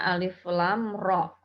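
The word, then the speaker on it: الر: cara membacanya Seperti apa Alif dibaca sesuai bunyi hurufnya ya Alif kemudian lemnya dibaca 6 harokat kemudian di sini ada hurufnya dibaca Dua harokat tetapi tanpa imbuhan Hamzah membacanya alif lam roh nanti tidak ada guna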